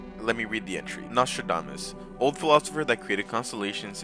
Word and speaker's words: Nostradamus: But next up, we're going to be talking about Nostradamus.